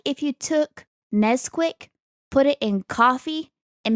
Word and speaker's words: Nesquik: and made it alcoholic I believe it's Nesquik not nez quick oh yeah I think it's Nesquik like Nestle Haley's entire world just rotated